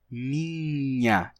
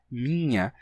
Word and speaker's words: minha: A gente ouve ainda em português, às vezes as pessoas dizem minha, só com um i nasal, né?